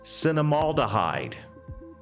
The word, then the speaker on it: cinnamaldehyde: chemical in cinnamon is cinnamaldehyde now let's think about this cinema hall cine cinema haldam oh i had a little trouble with that cinema hall of the hyde rhymes with formaldehyde and anything that rhymes